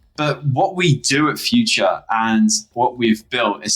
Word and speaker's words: Phuture: So Phuture has a pH. We pronounce it like an F, and the pH essentially represents like balance, the acidity levels.